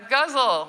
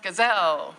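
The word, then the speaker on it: ghazal: it should be pronounced gazelle it's such a beautiful word but it's actually pronounced with kind of a guttural like the way you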